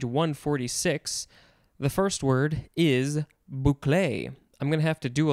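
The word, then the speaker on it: bouclé: top of page 146 the first word is boucle i'm gonna have to do a lot of spellings and extra pronunciations and screwing things up probably this is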